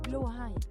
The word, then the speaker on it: Blåhaj: Blåhaj. Blue high. Blue high. There was the blaja. The blaja. Blaja. Blaja. What is it? Blåhaj.